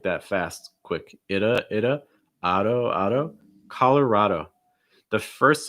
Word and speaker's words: Colorado: third syllable and again you'll see that strong o sound at the end auto notice that that d is not really a super strong d either it's more like a fast d sound same thing